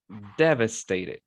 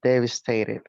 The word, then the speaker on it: devastated: is devastated devastated devastated the stress is in the first syllable devastated okay so it should be devastated yes yes everyone go